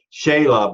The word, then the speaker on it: Shelagh: Shelagh, but it's read out like Sheila.